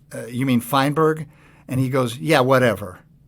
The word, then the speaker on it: Feinberg: going to do again you're never going to mispronounce my name my name is feinberg and i said and my dad's name was